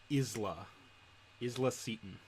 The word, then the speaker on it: Isla Seton: um he names uh Isla Isla Seton they say is their direct boss how do you spell that i s l a and then it's seat on cool um just gonna